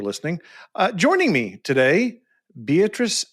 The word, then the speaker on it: Beatrice: Uh joining me today, Beatatric Gut Connect with Badassory by B. Did I pronounce that correctly? Beatatric, you did.